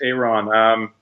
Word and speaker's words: Aaron: down hey Ron Jones how do you spell that a aro n or Aaron Aaron but it's Iran he's from Seattle and